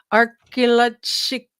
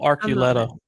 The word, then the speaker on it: Archuleta: Archuleta Mesa. Oh, Archuleta. Is that how you say it? Yeah.